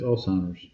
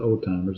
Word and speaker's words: Alzheimer's: Yeah, it's Alzheimer's. It's not old timers. It's Alzheimer's.